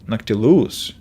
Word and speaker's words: Noctilus: So the stress is on the 3rd syllable, Noctilus.